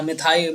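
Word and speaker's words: methyl: मिथाइल orange क्या हो, मिथाइल होता है भाई, हाँ मिथाइल, मैथिली नहीं होता, मिथाइल ऑरेंज होता है, हाँ सॉरी, मैं अभी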